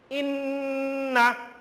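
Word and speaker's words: إنّ: Like inna, amma. Students, keep attention here. Above the Nun there is tashdid. That's why I am doing the humming sound. Inna, like this will be pronounced.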